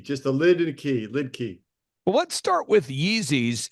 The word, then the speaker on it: Liedtke: you're in Germany you call you say it lidka if you're if you're American like we are it's lid key just a lid and key lid key well let's start with Yeezys and then we'll